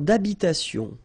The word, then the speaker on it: habitation: Une tour d'habitation. Remember, H doesn't exist in French, well, in most of the cases, so it does mean that you don't pronounce it, all right?